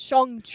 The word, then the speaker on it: Shang-Chi: Shang-Chi. It's pronounced Shang-Chi. Shang-Chi, that's right, Tony.